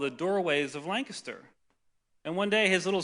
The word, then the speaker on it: Lancaster: A guy I worked with years ago, I lived up in Lancaster, Pennsylvania, not Lancaster, Lancaster, thank you.